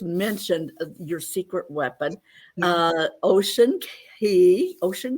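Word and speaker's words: Ocean Cay: about that yes so it's um it's actually pronounced ocean key so ms msu marine reserve um and key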